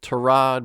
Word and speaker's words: Tyrod: Baker Mayfield made the point to say that it's Tyrod, but he won't correct anybody. But then, you hear like even the New York Jets announcers they really hit the I in the Tyrod Taylor. They really accentuate the apparently mispronunciation of Tyrod.